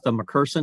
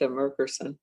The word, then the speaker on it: Merkerson: Esa Mccerson. Isn't that how you say her name? Atha Merkerson. Yes. She was really good. Actually s Apea Merkerson.